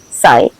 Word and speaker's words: psi: Again, what we write with a silent P, psi, is the nature of mind itself.